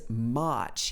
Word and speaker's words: march: it like this also listen to the way he says march he uses this long ah sound which is very particular to uh british english and it's one of